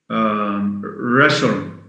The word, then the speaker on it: wrestle: Wrestle or wrestling, W-R-E-S-T-L, where the T is silent, and of course the W at the beginning.